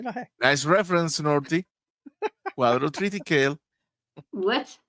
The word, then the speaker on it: quadrotriticale: Quadrotriticale. What? Quadrotriticale. Yeah, that's how it's pronounced.